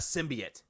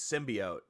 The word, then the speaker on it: symbiote: symbiote it's not a symbiot everyone knew was in the game I kind of wish they why are you pronouncing words wrong it's symbiote it's not symbiot didn't spoil that but